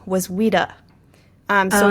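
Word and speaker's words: Ouida: at the time and her pen name was Weda. Um, so it's spelled O U sorry, O U I D A.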